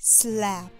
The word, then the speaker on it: Slaph: Meet Slaph, the latex-free, affordable, posable hand, other known as slap. The H is silent.